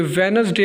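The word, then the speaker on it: Wednesday: इसी तरह यह वेडनेसडे होता है। वेड वेडनेसडे नहीं होता वेडनेसडे होता है बल्कि यहां पर जो डी है वो साइलेंट है।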